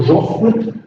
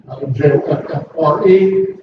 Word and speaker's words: Joffre: The first commander of the French armies was General Joffre, J-O-F-F-R-E. Sometimes it's pronounced with the R-E on the end of it.